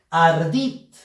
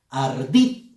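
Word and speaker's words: ardid: Ardit. Ardit. Fuerza de voz en la sílaba dit.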